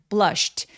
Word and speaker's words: blushed: sh는 입술 쭉 내밀어서 emperor blushed. 자, sh는 무성음, 성대가 울리지 않기 때문에 뒤에 ed는 통으로 t로 발음해서 blushed라고 발음해 주셔야 돼요.